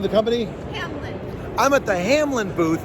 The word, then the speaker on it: Hamelin: How you pronounce the name of the company? Hamelin.